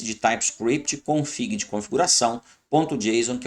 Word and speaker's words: JSON: Você vai ouvir aí JSON, JSON, JSON, várias pronúncias. JSON, né?